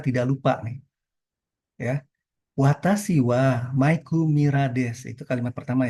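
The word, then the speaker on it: は: Wa, di dalam hiragana dia dibacanya ha. Tetapi ketika dia menjadi partikel, dia menjadi wa.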